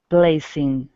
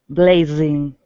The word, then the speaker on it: blazing: doesn't exist and blazing can you hear the difference yeah okay so remember the zoo is a vibrating voiced sound and the S is not vibrating its voiceless so the Z for us is voiced blaze blaze right sound clear okay